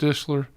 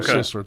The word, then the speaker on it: Sisler: good um Lauren uh how do you say your name the the the sideliner forest dishler yeah she she spokes oh Lauren sisler thank you uh she spoke and